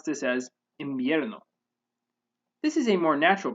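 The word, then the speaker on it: invierno: word imbierno or winter instead of pronouncing it with an n as in bierno spanish speakers pronounce this as imbierno this is a more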